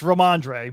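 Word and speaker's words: Rhamondre: see this i mean his name is uh ramalama ningdong um andre it's romandre but i'm gonna go ramadan ramadan ramadan stevenson's uh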